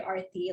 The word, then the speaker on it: Aarti: a long time and now i'm like no it's actually arty like you know this is how it's pronounced this is how you